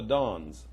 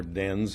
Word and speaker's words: dens: up in the middle called the dons, or dens if you want to pronounce it American way.